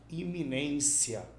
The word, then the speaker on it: iminência: Iminência. Iminência, gente, é uma palavra paroxítona, ou seja, ela tem a penúltima sílaba tônica.